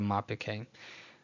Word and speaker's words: mappik hey: It's a hey with a more breathalyzed sound. So you definitely pronounce that exhale. This is referred to as the mapik hey.